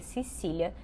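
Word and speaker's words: Cäzilia: o Andreas, de 63 anos, que era o pai da família, a Gasília, que a gente pronuncia Cecília, que tinha 72 anos e eles eram os pais da Vitória, de 35 anos.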